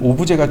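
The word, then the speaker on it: objet: 오브젝트를 프랑스 식으로 발음하면 오브젝입니다. 어 별거 없어요. 그냥 사물이란 뜻이에요. 사물 물체란 뜻입니다. 별다른 얘기는 아니에요. 교재 그니까 제가 강의하는 교재에 보면은 인테리어는 오브제가 중요하다 그 이렇게 써 있어요.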